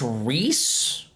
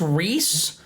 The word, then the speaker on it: Rise: Okay, next character, we got another Persona 4 character, and I don't know how to pronounce this. I think it's Reese. Rise? Rise.